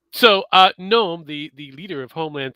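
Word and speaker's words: Noem: your homeland security that Christy Gnome, I believe that's how how she pronounces her last name. Gnome.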